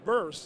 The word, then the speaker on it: Birst: Glad to talk to Brad Peters and he's the CEO of a company called Burst and that's spelled B I R S T.